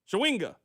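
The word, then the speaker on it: Chawinga: Shawinga. That's how you pronounce it.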